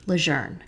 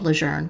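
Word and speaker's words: Lejeune: Lieutenant General John Archer leer it is pronounced as if it has an r in it although there isn't one it's spelled l e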